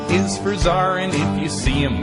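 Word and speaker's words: tsar: with a silent B and then Zar yeah it's a like a Russian Zar you everybody knows Apple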